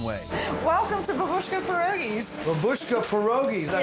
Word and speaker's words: Babushka Pierogies: Babushka Pierogies, did I say it right?